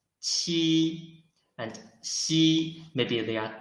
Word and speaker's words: qi: Ji, and this qi, when we read qi, its pronunciation is the same as ji, but it blocks the airflow in the mouth first, and then releases the block. Qi.